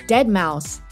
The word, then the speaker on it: deadmau5: His DJ name looks like deadmau5, but it's actually pronounced as deadmau5.